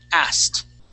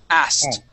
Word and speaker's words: asked: the word like that asked asked ask asked okay skip that that k sound asked asked okay okay